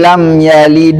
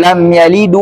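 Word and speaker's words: لم يلد: harakat huruf Dal Hm seperti lam yalid Wam yulad dibaca menjadi lam yalidu Wam yuladu Ah ini kesalahan orang tah ini salah baca ente karena dia di situ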